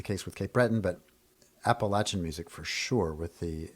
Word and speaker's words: Appalachia: In that, the people who are from that region more often pronounce it Appalachia, like I'm going to throw an apple at you.